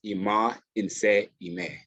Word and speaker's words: Imo Nse Imeh: His name, how it's pronounced, is Imo Nse Imeh.